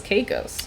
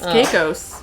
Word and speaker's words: Caicos: oh you have it is this is that how you say it cows i thought it was caicos there you go yeah apparently it's caicos i haven't been there